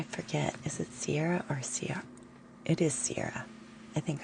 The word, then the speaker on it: Sierra: But I forget, is it Sierra or Sierra? It is Sierra. I think I'm confident. I think you spelled out S-E-A. Sierra, right?